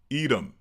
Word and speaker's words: Edom: Well, in English, we pronounce it edom.